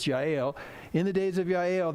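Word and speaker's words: Jael: I'll say it right looks like jail but it's GI ale in the days of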